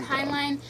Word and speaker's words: Heinlein: By Robert Heinlein.